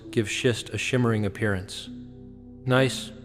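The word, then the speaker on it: gneiss: Nice, pronounced nice, is a high-grade metamorphic rock with alternating light and dark bands.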